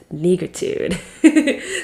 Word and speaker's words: negritude: It sounds like attitude, but it's negritude.